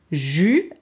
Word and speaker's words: jus: Jus, ici on ne prononce pas le S, hein.